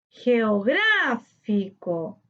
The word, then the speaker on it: geográfico: veamos el siguiente ejemplo geográfico geográfico geográfico tiene su sílaba tónica en grado correspondiente a la antepenúltima sílaba le colocamos tilde porque todas las palabras esdrújulas llevan tilde luciérnaga luciérnaga luciérnagas tiene